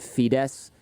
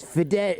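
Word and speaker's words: Fidesz: see i spoke and i always mispronounced the name of this party is it fides in hungary it's hungarians are like it's fidet and i'm like that's what i said but i can't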